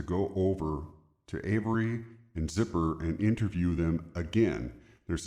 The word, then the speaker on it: Zipperer: the name of George Zipperer, Zipperer. Now in Wisconsin, there's a lot of German names, Shearer, Booker, Wooker, that have ER, but it's pronounced Zipper.